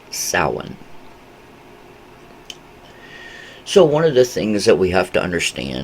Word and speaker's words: Samhain: you know this particular practice this idea of Sauron which that's how it's pronounced uh is very significant to the the